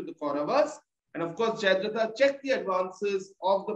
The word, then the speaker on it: Jayadratha: very strict on pronunciation, but like you said Jayaratha. So I mean, that's not a character. So unfortunately, Ansh can't give you any points for this one. It is Jayadrat or Jayadratha without just the R.